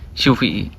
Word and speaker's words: CUV:e: Honda tulisannya COV sama E, tapi kok nyebutnya CUV, ejaannya CUV, atau gampangnya Honda CUV aja lah ya.